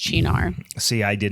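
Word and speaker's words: Cynar: It's spelled like c y n a r, right? Yeah. But it's pronounced chinar.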